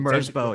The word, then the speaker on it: Merzbow: mysterious in a way, because it was like Merzbau, I think, or that's how people Merzbow, yes. you have to pronounce it.